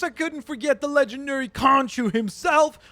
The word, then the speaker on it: Khonshu: Of course I couldn't forget the legendary Khonshu himself, or Khonshu, if you want to pronounce it that way, because I believe that's actually how it is pronounced properly.